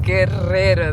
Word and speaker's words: Guerrero: Guerrero. That's what they're saying, Guerrero. But it's a really heavy R, so Spanish R's. You got to roll your R's.